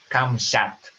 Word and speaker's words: Kamshat: Is it kamshat or kam? Should. It's actually kamshat.